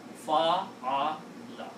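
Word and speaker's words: فعل: Now try to pronounce this, very easy to pronounce. Fa-a-la.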